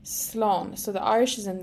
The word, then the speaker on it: Slán: can use a short version which is just Sloan Sloan so the Irish is in the green here Sloan and our pronunciation is below in the yellow Sloan however